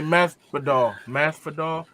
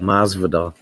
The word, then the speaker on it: Masvidal: Jorge Masvidal. I don't know how to say it properly. You got it. Masvidal.